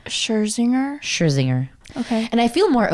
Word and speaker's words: Scherzinger: I don't know how to pronounce her last name. Scherzinger.